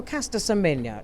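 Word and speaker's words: Caster Semenya: i agree with them you know you know caster symmetra that's that's how we pronounce her name she she's an athlete a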